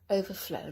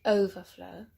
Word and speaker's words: overflow: Overflow, not overflow, but overflow. It's a verb, remember. If overflow was a noun, and then we will put the stress at the beginning.